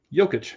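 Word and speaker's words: Jokić: Yic.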